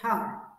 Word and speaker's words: heart: Be careful because you mustn't pronounce the letter R in this word. Har, har. For instance, he is very good because he has a great heart.